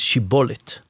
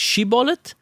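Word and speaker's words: שיבולת: Because one tribe said it's shibolet and one tribe said sibolet. Uh-huh.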